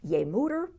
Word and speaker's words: Je moeder: How do you say it? Je moeder. Je moeder, yes.